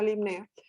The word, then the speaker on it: Limnaea: Y dentro de las especies, las que hay en Venezuela son Limnea truncatula y Limnea, se escribe Limnaea, pero se usa Limnea, Limnea cubensis, ¿ok?